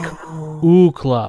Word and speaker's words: UCLA: And they're like, Ukla.